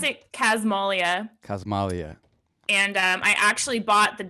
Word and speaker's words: Casmalia: But I pronounce it Casmalia, Cosmalia.